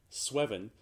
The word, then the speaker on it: sweven: to pronounce that because it looks way too much like seven to not be pronounced with that rhyming scheme sweven which meant to dream